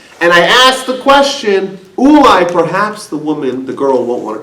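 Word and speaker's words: אולי: But the first instance spelled with a vav, Ulai with a vav, and the second instance spelled Ulai without a vav, which can also be pronounced Eli, which means to me.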